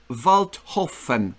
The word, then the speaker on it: Waldhofen: I don't know, maybe you pronounce it correctly? Walter von Waldhofen.